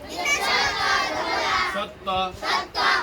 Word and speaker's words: সত্য: ওই বর্ণনাটা দুইবার উচ্চারণ কর। কয়বার? দুইবার। দুইবার। জিন্তা স ত জফলা। জিন্তা স জফলা সত্য।